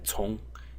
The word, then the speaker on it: 从: for the second tone, and I used to remember that tong is pronounced in second tone just by that.